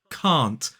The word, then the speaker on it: can't: It's the same vowel sound we see in the word car or far. So it's can't.